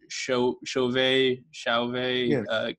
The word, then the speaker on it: Chauvet: gone into, I'm probably going to pronounce the name wrong, but like the Chauvet caves. Chauvet, yeah.